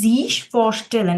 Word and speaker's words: sich vorstellen: ফসলেন জিশ ফসলেন হ্যাঁ উচ্চারণটা হবে জিশ ফসলেন এটার মানে হচ্ছে ইন্ট্রোডিউস